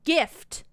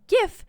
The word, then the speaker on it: GIF: begin to sound off first of all jin is not a good example it's a drink derived from juniper juniper berries so its name is from dutch geneva for juniper the word gif is not derived from another language with the word where a word starts with j in fact it is an acronym derived from english words that first letter the